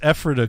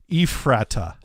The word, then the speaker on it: Ephrata: At least you pronounce Ephrata correctly. Some people who are out of towners say Ephrata. I don't see how you get that. They don't just say Euphrates? Euphrates. That looks Ephrata is the only way I would think to